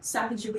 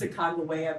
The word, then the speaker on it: Sacagawea: Sacagawea is not how you say her name. It's Sacagawea because there was no hard j sound in the Lenape language.